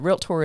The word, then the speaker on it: realtor: Now that we've taught the rest of the industry that realtor is a 2-syllable word, now we know how to properly spell wrought iron fence.